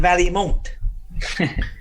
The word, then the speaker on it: Vallimont: Some people miss the I a little bit with it, but that's what I was going to say.